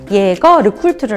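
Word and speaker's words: Jaeger-LeCoultre: 더 모금 인 거예요 그래서 제조로 꼴 두루 가 아니라 예거 르쿨트르 라고 발음을 하셔야 되요 예거 감과 랩 폴더로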